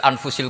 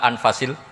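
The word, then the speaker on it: أنفس: saja di sini ditulis anfusil kutub kalau saya baca anfasil kutub karena maknanya kitab ter baik Kalau kitab terbaik bacanya bukan anfus tapi apa anfas ya nanti kamu debat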